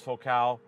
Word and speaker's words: Focal: It's spelled Focal, pronounced Focal, phenomenal. The Flax series lineup of theirs is definitely above average.